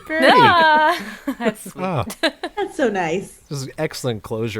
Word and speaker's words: BrdU: dappy or brdu brdu which is pronounced bird bir boy that's good and actually if we're using the Welsh alphabet as I always am the U is pronounced more like an I so it's birie birdie that's sweet that's so